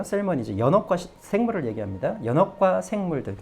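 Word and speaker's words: salmonids: 이거는 또 L을 발음하셔야 돼요. 셀머니즈.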